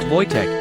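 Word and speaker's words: Wojtek: They named him Voych, pronounced Voytech, and adopted him into their unit.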